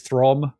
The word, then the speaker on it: Throm: Um, so you befriend one of the barbarians, Throm. Um, you know, rhymes with Crom.